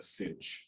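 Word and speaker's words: sinh: And as I mentioned, it's pronounced cinch or hyperbolic sine.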